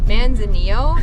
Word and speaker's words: Manzanillo: We are heading to Manzanillo. How do you say it? Manzanillo.